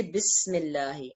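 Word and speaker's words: بسم الله: was actually ISM so we don't pronounce Al if we say bismillah okay the second in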